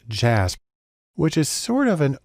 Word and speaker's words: JASP: has developed a program called jasb it's actually pronounced jasp which is sort of an open source version